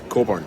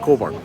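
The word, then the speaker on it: Cockburn: Coburn. C O C K B U R N. But it's pronounced Coburn.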